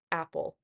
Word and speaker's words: apple: When I say apple, my voice starts higher and then goes lower.